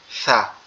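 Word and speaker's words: ث: পাচ্ছি এটাকে বলা হয় সা এটা মূলত আমাদের দাঁত এই যে জিহ্বার আগা পর্যন্ত লাগবে দাঁতটা এই জিহ্বার আগাটা সামনের উপরের দুই দাঁতের আগার সঙ্গে লাগবে লেগে নরম সুরে আওয়াজে উচ্চারিত হবে সা এরকমভাবে তো এই ছাটা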